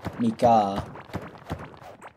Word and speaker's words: Mika: Mika, right? Is it Mike? It's Mike? Am I pronouncing it right? Mika. Or Mike. I'm alright, yeah. Second way. Mika.